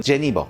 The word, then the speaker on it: Genever: 알려 주셨거든요지 아니었잖아 어 네덜란드 벨기에에서는 예네 독일에서는 제니바 프랑스에서는 네버 그러더라고 그런데 이제 이게 어떻게 보면 네덜란드가 원조가 네덜란드 식으로 앞으로 발음을 할게 얘네로이 얘네의 역사는 좀